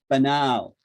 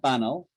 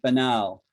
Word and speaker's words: banal: It's pronounced banal, not banal, right? But banal, banal, okay?